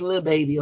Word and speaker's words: Lil Baby: Okay, I just said little because I just used the whole thing. I know it's Lil Baby, okay? Let me say it right.